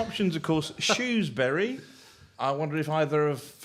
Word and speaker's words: Shrewsbury: We don't use the H at all, if I'm honest. You know, our kind of approach is more, you know, it's Shrewsbury, really.